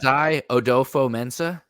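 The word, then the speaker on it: Kwesi Adofo-Mensah: I'm going with I don't know if I'm pronouncing this right at all. Probably not. Kwesi Odofo-Mensah.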